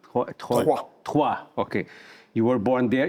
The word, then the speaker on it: Troyes: You were born in, I don't know how to say this, is Troyes. Troyes.